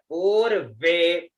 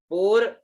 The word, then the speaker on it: पूर्वे: फिर पू ऊपर, पूर्वे, पूर्व ऊपर, वे में आगे बीच में, पूर्वे।